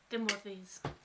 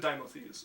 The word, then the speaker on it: Dimothes: Timothy's. How do you spell that? Timothy. It's actually Dimothes, so it's D-I-M-O.